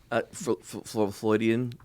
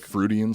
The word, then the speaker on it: Freudian: Floydian slip. Cafloidian slip. I Vin think, Diesel and pussy in the same. I right next to think each I other. think it's Good pronounced work. Freudian slip.